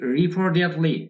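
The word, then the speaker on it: reportedly: এরপর কি, রিপোর্টেডলি এই উচ্চারণটা আমেরিকান, যেহেতু আমরা বলছি রিপোর্টেডলি। এবার খেয়াল করুন, রিপোর্টেডলি এটা টি এর উচ্চারণ ডা হয়ে যাবে, ড্যাট হবে।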